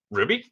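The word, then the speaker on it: RWBY: but yeah that's that's also how you typically pronounce the name of the show Ruby okay good to know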